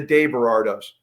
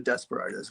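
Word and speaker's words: DesBerardos: it the day bardos well you know the elegant pronunciation i' never expected anybody would give it a shot but uh would be the day but we call it the Desperados we just put a little space there to make it look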